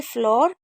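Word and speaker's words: floor: एक है ब्लड फ्लड ठीक है फ्ल फ्लोर और एक वर्ड मीनिंग दो वर्ड मीनिंग ऐसी है जिसमें डबल ओ को ओ पढ़ते हैं। एक है फ्लोर और एक है डोर। ये दो वर्ड मीनिंग ऐसी है जिसमें ओ पढ़ते हैं।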